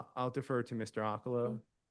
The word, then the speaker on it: Okolo: Okalo. Okay. Sir, could you please state your name? It's spelled for the synographer. My name is Okolo.